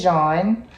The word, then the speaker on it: Jean: But my name is Jean. It means yellow in French. So that's how it's spelled, like yellow in French, not Juan, Jean, J-A-U, so French.